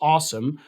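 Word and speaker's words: OSEMN: no it's a so it's a os emn which you could pronounce as awesome where each letter stands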